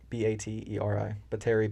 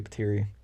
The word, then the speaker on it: Bateri: It's spelled Bateri, so it's kind of spelled like battery. Yeah. So Batiri? Bateri, Bateri.